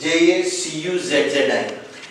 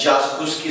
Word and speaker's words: Jacuzzi: The spelling is J-A-C-U-Z-Z-I. It is incorrectly pronounced as jacuzzi, something like that. It's not jacuzzi. It is jacuzzi, a bathtub.